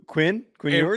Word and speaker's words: Ewers: Quinn Ewers? Yeah, it rhymes with sewers.